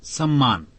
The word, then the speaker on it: psalm: इसी प्रकार PSALM में P और L दोनों साइलेंट हैं।